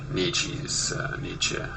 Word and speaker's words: Nietzsche: I always called him Nietzsche for years, so it's hard for me to remember Nietzsche to be the more correct pronunciation, since I believe in pronouncing things as closely as possible to the original language.